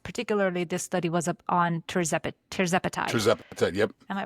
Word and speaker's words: tirzepatide: Particularly, this study was on tirzepatide. tirzepatide. Yep, Am I pronounced yep.